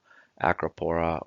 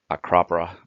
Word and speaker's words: Acropora: So, for example, there's Acropora or Acropora, depending on how you want to hear it pronounced.